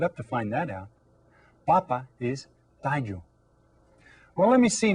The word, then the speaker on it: papa: did you say la Papa remember you stress that first syllable to say that it's a potato and if you stress the second syllable you're saying that it's your father okay how about this